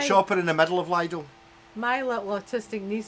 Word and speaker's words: Lidl: It's not L-I-D-D-L-E, so it can't be Lidl. It's got to be Lidl. Listen. I like shopping in the middle of Lidl.